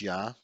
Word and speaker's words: Ea: his name was ia in acadian which is pronounced ya his rituals involved holy water and his symbol